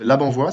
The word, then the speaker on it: Labanvoye: Donc aujourd'hui on est avec Labanvois, c'est ça, je prononce bien?